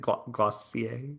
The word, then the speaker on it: Glossier: got into it and is it Glossier? Is that Am I saying it right? Okay. doing it right.